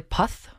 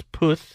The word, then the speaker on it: Puth: kelly clarkson i believe his name is charlie puff no it's poof oh well then i've